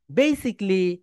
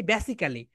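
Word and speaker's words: basically: এরপরে এখানে যতগুলো ওয়ার্ডস রয়েছে সবগুলো ওয়ার্ডস দিয়ে অ্যাটেনশন, বেসিকলি তোমরা বলবে, আমরা বলি বেসিক্যালি, আমরা বাংলাদেশিরা সবাই বলি এটাকে বেসিক্যালি, কিন্তু এটা রাইট প্রোনাউন্সিয়েশন হবে বেসিকলি, বেসিকলি।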